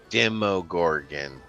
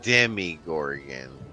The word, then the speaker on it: Demogorgon: they really don't okay this is pronounced the demo Gorgon thank you not the demig Gorgon or the the demogorgon